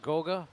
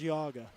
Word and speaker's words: Geauga: You went to, am I saying it right, West Goga High School? West Geauga. West Geauga, that's outside Cleveland.